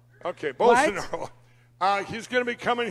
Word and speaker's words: Bolsonaro: Bolsonaro. Yeah. Bolsonaro. Okay, Bolsonaro. He's going to be coming here to speak in a couple hours. He's going to have the president of Brazil, Bolsonaro's son, to speak.